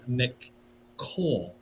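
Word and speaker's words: McCaul: house.gov okay where chairman mccole that's spelled MCCA UL mle that's I think that's how you say his name this article folks was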